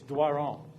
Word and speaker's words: Doiron: How do you pronounce it? How do I say it? It's Doiron.